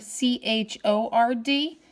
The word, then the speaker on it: chord: Okay, what follows a diameter is a chord, and it's spelled like chord, C-H-O-R-D, but we pronounce it chord.